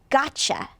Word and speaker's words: gotcha: How about this one? Gotcha. Try it again, gotcha. Very nice, and that's got you connected together, right?